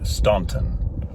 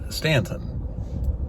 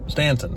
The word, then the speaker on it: Staunton: it with me now Stanton and one way you can remember this is Stan just think like standing up stand and on like onion stand on so stand ton that's all it is